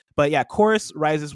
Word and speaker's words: Chorus: It's spelt Corvs, but I'm assuming it's pronounced Chorus. Rises. Well, they said Chorus. Like churches. They said Chorus in it.